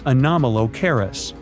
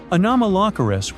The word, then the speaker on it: Anomalocaris: The name is a bit tricky to pronounce, so I'm not going to. Okay, okay, it's Anomalocaris, but it just literally means unusual shrimp.